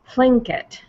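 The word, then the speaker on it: Tlingit: and make a sound so the way they pronounce it is um plink it and what it is is the K and the L it's kind of a breathy L it's not something that's really in our language or something that we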